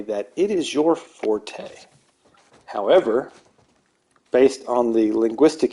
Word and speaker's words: forte: of that blade and it's pronounced Fort whereas the music is forte with the e sound and due to uh